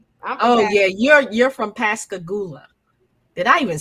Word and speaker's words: Pascagoula: there's a mall oh yeah you're you're from Pascagoula did I even say it right yeah you